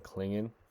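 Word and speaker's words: Clingan: to is going to be uh Donovan Donovan kingan that's how you say it we're going to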